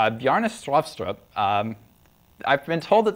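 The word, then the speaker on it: Bjarne Stroustrup: It's Bjestrost. Um, I've been told that the way to pronounce this is to say strut with a Norwegian accent while cramming a potato down your throat.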